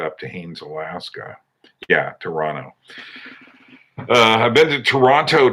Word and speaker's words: Toronto: on around the world toronto or as they say is is this right toronto that's how you say it there you don't say toronto uh and chris strange